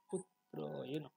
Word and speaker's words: পুত্রেণ: দ্রুপদ পুত্রয়েন, পুত্রয়েন উচ্চারণটা কি হবে। দ্রুপদ পুত্রয়েন, পুত্রয়েন। সংস্কৃত উচ্চারণ দ্রুপদ পুত্র, পুত্র, পুত্রয়েন।